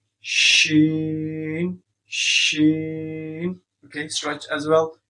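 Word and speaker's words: شين: When you sing sheen, so your middle part of your tongue you have to touch with your palate, with your upper palate, and your first part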